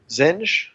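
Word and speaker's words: Zsinj: And there's this villain called Warlord Zinj. That's how I say it.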